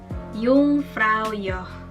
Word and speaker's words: Jungfrau: gimana 321 jungfrau your Yung Froyo huruf j dalam bahasa Jerman tidak dibaca seperti j&j seperti dalam Bahasa Indonesia tetapi dibaca itu seperti huruf y jadi